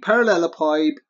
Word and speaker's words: parallelepiped: say it's like this to shake a parallelepiped piped is a essentially a bricks tall object